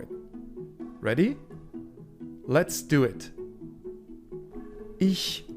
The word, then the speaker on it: ich: Ich mache. You can hear that there are two different ch sounds in this one. Ich, very softly, and mache. It's in the back of the throat. It's very harsh, as if you were spitting out.